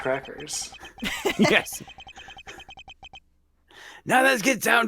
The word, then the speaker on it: Quercus: So why do you attempt to pronounce it as Quercus? I don't know. I'm Plot moving on. twist, it actually is pronounced Okay. crackers.